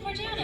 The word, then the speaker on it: Morgiana: Is it Morgiana, right? Yeah, it's Morgiana. Okay, just make sure I got that name and pronunciation right.